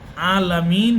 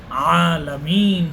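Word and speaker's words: العالمين: আইন আইনকে আপনি আইন আলামিন পড়তে পারবেন না আপনাকে আলামিন পড়তে হবে আইনের উপরে খাড়া জবর রয়েছে এটাকে আপনাকে টানতে হবে আলহামদুলিল্লাহি রাব্বিল আলামিন বিশ্ববাসীর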